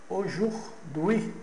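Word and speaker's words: aujourd'hui: e pronunciadas as palavras e estabelecer relações mediante observação da pronúncia de suas sílabas, como por exemplo na na palavra ah ojuri. Ao se escreve, ela é escrita ao juri.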